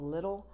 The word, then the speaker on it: Lidl: And then there's a store called Lidl. I think it's pronounced Lidl, L-I-D-L.